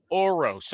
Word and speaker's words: Orosz: okay uh the guest today is named gargay oroz okay and here's how i'm going to introduce